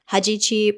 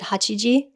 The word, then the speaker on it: Hajichi: has something called the Hajichi Project. Also, I want to apologize because I pronounced it wrong before. Oh. I think I said Hachiji. Okay. But it's Hajichi.